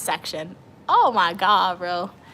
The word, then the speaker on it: Section: It's Section.